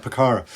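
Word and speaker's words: Pucará: Ward are chasing that Pucara. Is that how you pronounce it, a Pucara? Yeah, that's right, Pucara.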